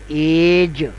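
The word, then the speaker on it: age: और इसके साथ जब वोवेल मिलेगा तो यह बन जाएगा एज। एज एज अब लॉन्ग हैंड में देखें तो स्पेलिंग बनते हैं ए जी ई लेकिन प्रोनाउंस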